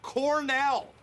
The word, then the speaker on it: Cornell: It's pronounced Cornell.